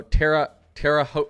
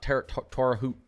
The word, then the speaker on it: Terre Haute: Oh, Terre Haute now a lot. Terre Haute.